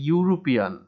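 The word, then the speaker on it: European: যেমন এ ইউ, এটার উচ্চারণ হচ্ছে এ ইউ, এ ইউরোপিয়ান, সুতরাং এখানে শব্দের প্রথমে ই আছে কিন্তু উচ্চারণটা হচ্ছে ইউ, ইউ উচ্চারণ হওয়ার কারণে এখানে এন না বসে এ বসেছে। এ ইউরোপিয়ান, এখানে শব্দের শুরুতে ই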